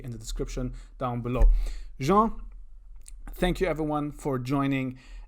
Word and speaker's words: Jean: i have a special guest his name is jean and a lot of people mispronounce his name especially on his podcast and they say it's jean but it's not it's jean and john he also has a podcast and